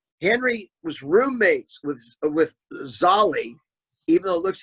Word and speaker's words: Zal: say that sally novansky i can never say his name right yeah it's actually pronounced zolly okay okay henry dilts